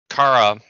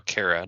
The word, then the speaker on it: Kara: But this Supergirl special kind of addresses that, but because Kara, or Kara, depending on what part of the world you're from, how you pronounce it, she's basically been usurped